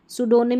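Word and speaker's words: pseudonym: सूडोनिम में P silent है।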